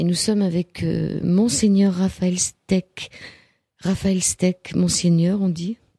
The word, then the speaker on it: Steck: il est animalistes et son nom s'appelle steak mais ça s'écrit pas comme un steak ça s'écrit sts et cas il nous vient de